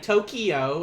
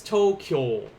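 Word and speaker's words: 東京: this is today kyo similar to like how in english a lot of people are like tokyo and it just kills me it's tokyo that's that's one syllable tokyo uh then we have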